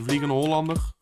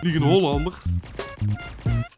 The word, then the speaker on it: Vliegende Hollander: The Vliegende Hollander. That's how they say it in Dutch. Vliegende Hollander.